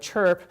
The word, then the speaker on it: ChiRRP: And so maybe we'll call this chirp, where the H is silent, and so it's an angry tweet.